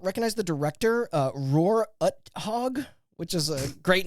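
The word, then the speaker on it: Uthaug: the director uh Roar UT hog which is a great name what that's who did the T like you pronounced that wrong his first name is Roar and utog I didn't say you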